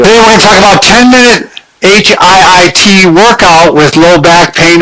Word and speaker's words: HIIT: how they're recovering using HIIT programs. Okay. And that's how they pronounce it, HIIT. High intensity interval training.